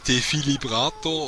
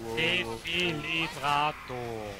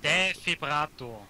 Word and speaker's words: Defibrillator: Ja, dann lade ich automatisch entweder den Defilibrator oder wie das Teil auch wieder ausgesprochen wird. Defibrillator. Ja, es ist wahnsinnig schwer auszusprechen, weißt du? Defibrillator.